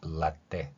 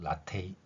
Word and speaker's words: latte: 아니라 리얼 두 번이고 이러한 발음은 이탈리아에서는 라데 이렇게 발음할 수 있고요 영어에서는 라데 혹은 라테 이렇게 발음할 수 있습니다 그런데 영어에서는 티어로 소리 나는데 이탈리아에서는 쌍 디귿으로 소리 나는 것을 어 볼 수 있죠 영어에서는 쌍디귿 소리가 쌍디귿